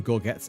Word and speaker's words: gorget: Is it gorgget or is it gorg? Hang on. Let's let's answer this question once and for all. Gore G O R G- E T. Gorge. I was pronouncing it wrong. Gorge. It is Gette. You got it. Go. Okay. Gorge. It is gorge.